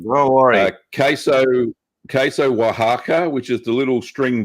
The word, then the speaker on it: Oaxaca: bit like cheddar um yeah that yeah my pronunciation is terrible so don't worry about that um don't worry about queso queso oaxaca which is the little string balls made with